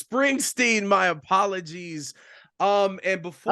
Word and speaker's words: Springsteen: And by the way, sacrilegious, I mispronounced his name. It's Springsteen.